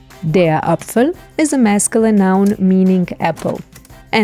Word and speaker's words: Apfel: blowing out air and the e at the end gets silent so we only hear the L de up the meaning